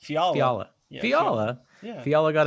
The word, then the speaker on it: Fiala: The NHL suspended Wild winger Kevin Fiala, Chick-fil-A.